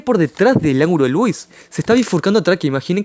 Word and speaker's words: Louis: cerro acá en uruguay entonces escribe ángulo de lewis y se pronuncia ángulo de louis no es el ángulo